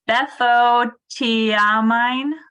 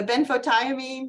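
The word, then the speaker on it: benfotiamine: the risks of taking uh okay I can't pronounce it betho tiamine oh the benphotiamine yeah which is available as a supplement if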